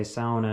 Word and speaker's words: sauna: Me and my family were descendants of Finland, so that's why we say sauna and not sauna, because sauna is the actual right pronunciation for it.